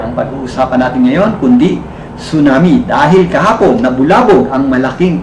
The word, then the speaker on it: tsunami: Ang tsunami po ay binibigkas ng tsunami. Silent po. Hindi po tsunami. Hindi po tsunami kundi tsunami.